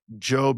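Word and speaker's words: Jobb: It they they specified like uh pronounced like robe not like Rob.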